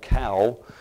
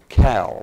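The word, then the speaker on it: caul: It's cow, C-A-U-L, cow. I think that's how you pronounce it, best I could learn today.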